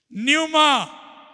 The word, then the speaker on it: न्यूमा: मेरा Bible training में न्यूमा बोलिए न्यूमा पी एन ई यू एम ए न्यूमा बोलते है न्यूमा लेकिन फर्स्ट पी आएगा पी साइलेंट है पी एन ई यू